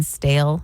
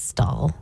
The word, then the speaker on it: stale: in the family uhhuh instead of saying stale she says stall stall and so every time